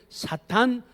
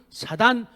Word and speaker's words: 사탄: 우리 한글 성경은 이 악한 영들의 존재를 사탄, 사단, 마귀, 귀신, 이렇게 성경은 기록합니다. 사탄은 영어 발음이에요. 사단은 히브리어 발음이고 또 우리말 발음이에요.